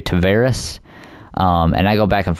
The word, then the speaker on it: Tavares: I think Saros is the correct pronunciation, but I've said it's like I remember I've always said Tavares forever, but it's actually Tavares.